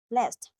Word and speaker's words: blessed: Here, blessed is the past participle form of the verb “bless” the "-ed" is pronounced with a /t/ following the “ed” pronunciation rule.